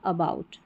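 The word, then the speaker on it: about: अब ये स्पेलिंग को हम ब्रेक कर सकते हैं, पहले ए को पढ़ा अ और फिर बाउट, और स्ट्रेस नहीं देना, जोर नहीं देना, अबाउट, है ना, हल्का सा।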